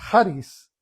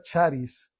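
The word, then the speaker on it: χάρις: su singular expresión es Haris. Ah, el el ch en en griego no se pronuncia charis, se pronuncia haris.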